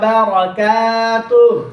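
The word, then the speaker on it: وبركاته: আইয়ুহান নাবিয়্যু আইয়ুহান নাবিয়্যু আরেকটু জোরে আইয়ুহান নাবিয়্যু সুন্দর করে আইয়ুহান নাবিয়্যু রাহমাতুল্লাহি রাহমাতুল্লাহি রাহমাতুল্লাহি ওয়া বারাকাতুহু ওয়া বারাকাতুহু কাফের মধ্যে টান দিতে হবে, নাইলে মার।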